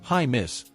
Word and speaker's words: Jaimes: And on the offensive side, Brendan Jaimes, pronounced high miss, gets the nod for some muchneeded depth.